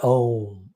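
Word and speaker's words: ॐ: So Om has got 3 syllables in it, matras in it. So the Om is a letter also. Om is a word also. The only thing which is a letter and word. Om. So A and U and Ma. These are the 3 syllables together. Om.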